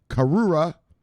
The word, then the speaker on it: Karura: So, Chainlink, another rescue operation, is going to be on, how do you pronounce this? Karura parachain.